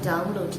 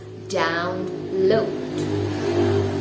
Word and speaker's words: download: it let's say incorrectly instead of saying download they say download maybe this is because of the tongue of indonesian that is um you know it is obviously easier to say drawn lord than download but anyway i am going to tell you how to pronounce it correctly it is down low one more time down low okay the third list